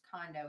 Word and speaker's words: Kondo: says condo is it so it's Marie Kondo pronounced condo is her last name she's a doll I